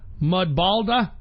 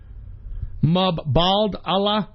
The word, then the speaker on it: Mubadala: Now this is where it gets tricky, because Global Foundries is owned by Mudbalda. I don't even know how to fucking pronounce it. It's Mubadala.